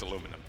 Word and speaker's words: aluminum: And let's not even get started on aluminium. Well, no, it's aluminum, and it's a garage. You pronounced it wrong for so long, you added a definition in the dictionary.